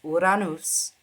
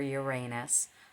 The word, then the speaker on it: Uranus: In ancient times, it was also ruled by Saturn, but once Uranus, I say his name in Greek, I prefer that over Uranus. I think Uranus is so much more beautiful sounding.